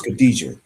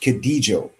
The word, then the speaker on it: Khadijah: Her name is Khadijah. In Meroitic, her name would be pronounced Khadijo. She was from that Cushite